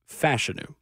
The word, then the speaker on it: Fashanu: just now joining us yes that is now confirmed how you say his name you have probably heard us say Olu fashanu a bit it is fashu which I I love you know fashanu it is let's reprogram myself just